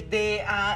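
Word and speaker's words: Danielle: Ay, hijo, pues es que como hablabas de Daniel, pero se escribe D-A-N-I-E-L-L-E, aunque se pronuncie como Daniel, es chava, mamá.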